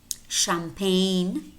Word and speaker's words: champagne: Also spelled CH as an exception, and these are pretty much, there are probably maybe 4 or 5 more words that are spelled CH and pronounced sh.